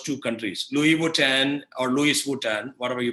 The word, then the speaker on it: Louis Vuitton: was i decided to estimate mastic value of louis vuitton brand in japan and france i used to